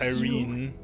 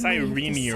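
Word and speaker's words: Cyrene: Yes, Irene. I'll turn into Oh, wait. It's sirene, right? That's how they say it.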